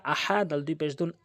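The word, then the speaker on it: أحد: হামজা জবর আ হা জবর হা আহা দাল দুই পেশ দুন আহাদুন। এখানে হালকের মাঝখান থেকে চাপ দিয়ে উচ্চারণ করবেন। আর ওয়াকফ করলে আহাদে হবে। আহাদও হবে না। আহাদে হবে।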